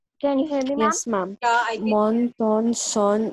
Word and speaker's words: mon: Mon, ton, son, not, what, le. Okay, so this is mo. N नहीं pronounce करना. ठीक है. No sound of N.